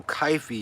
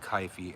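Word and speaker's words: kyphi: potent incenses since then if you don't know kaifi you can look it up um kaifi was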